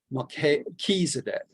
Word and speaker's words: Melchizedek: It's the CH is supposed to be like a K, Melchizedek.